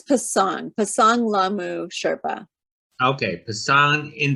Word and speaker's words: Pasang: How do you pronounce this? Pasang? It's Pasang Lhamu Sherpa.